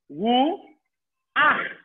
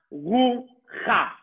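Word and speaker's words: רוח: Ru ach. Not ru cha. Ru ach.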